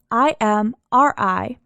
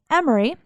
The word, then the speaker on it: Imri: It is spelled both I-M-R-I and E-M-R-I in the 1825 court records, and